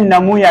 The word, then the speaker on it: pneumonia: virus corona virus infected, let us call infected नमूनाए, जिसको हम क्या कहते हैं नमूना, इसको हम कहते हैं दैट इज कॉल्ड एन